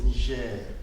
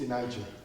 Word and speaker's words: Niger: Okay, so the real pronunciation of Niger is Niger. The real name is Niger. But in English it's Niger.